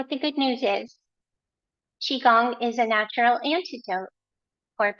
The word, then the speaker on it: qigong: than the spelling so the pronunciation is chi like cheese without an S Chi and the second